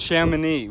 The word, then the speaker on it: Chamonix: It's pronounced Chamonix.